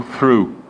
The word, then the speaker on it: through: E posso utilizar essa terceira que está aí, que é o through. Duas preposições, ok? O GH é mudo, por isso eu falo through.